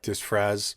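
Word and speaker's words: disfraz: me look it up yeah how do you spell it dis fras d i s f r a z it's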